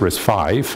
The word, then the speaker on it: RISC-V: uh uh Roman numeral but it's pronounced risk five and this is because